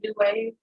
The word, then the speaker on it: New X Wave: I have the clothing line New Wave. It's New X Wave, but the X is silent.